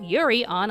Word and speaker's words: Yurio: For the sake of this review, we're just going to call Yuri Plazetsky Yurio, because it rhymes with Cheerio.